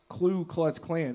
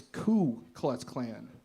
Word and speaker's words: Ku Klux Klan: like it's not dude it's not pronounced clue clutch Clan it's Ku Klux Klan right I was like